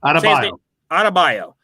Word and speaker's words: Adebayo: I did love the way the game started with Bam Adebayo. Is that how you say it? I can't say his name. Adebayo.